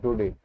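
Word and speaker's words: Daudet: अल्फोंस डुडे जो है ये एक फ्रेंच वर्ड है, तो उच्चारण भी हमें फ्रेंच में ही करना पड़ेगा, ठीक है, डुडे।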